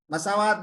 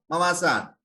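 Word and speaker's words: مواسات: रमजान के बारे में आप सल्लल्लाहु अलैहि वसल्लम ने फरमाया कि शहरुल मवासात, मसावात नहीं मवासात।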